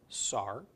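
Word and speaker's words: שר: And then finally with the seen, seen with a comments followed by a resh. It's pronounced sar.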